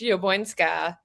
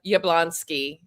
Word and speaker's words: Jabłońska: Are you can do the full Polish, Jabłońska. Jabłońska? Some people just will say Jablonski in the United States.